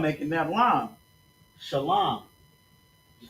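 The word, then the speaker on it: שלום: And then la and m is pronounced shalam, right? So we got to connect the l and the m making that line. Shalom.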